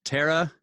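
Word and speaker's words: Thera: that's what we're talking about right there that's pronounced Terra Terra silent yes okay ah so that's so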